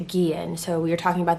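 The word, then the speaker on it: Guillén: a second and apologize i know that i mispronounced vanessa's last name in the previous video that we did so i just want to take a second and apologize for that her last name is gian so we were talking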